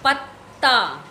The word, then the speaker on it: पत्ता: लोग पूरा उच्चारण करें, लेकिन पहला व्यंजन जो है वो स्वर रहित होता है, स्वर रहित यानी आधा त, पत्ता। पीछे वाला ता को हम लोग पूरा उच्चारण कर रहे हैं, लेकिन पहला वाला त को हम लोग आधा उच्चारण कर रहे हैं, पत्ता।